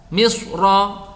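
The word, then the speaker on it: مصر: Misra ya, kalau dibaca waqaf itu ro boleh dibaca tebal atau tipis, tetapi tebal lebih utama. Jadi bacanya misr.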